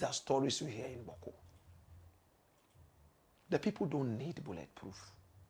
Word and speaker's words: Bawku: I know you can't pronounce it. Bawku.